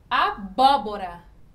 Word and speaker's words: abóbora: Abóbora. Abóbora. É o bo. E vai ser também proparoxítona.